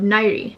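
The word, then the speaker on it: Nahri: first read her name immediately i pronounced it in the armenian way of nightie or if i like soften its nighty i can't get this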